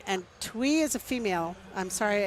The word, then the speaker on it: Thuy: It's pronounced Tiwi. Twee. Is that Twee? Twee. See, I can't even read. Okay, Twee. So All sorry.